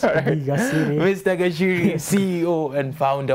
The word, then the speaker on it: Gaciri: It's Gaciri.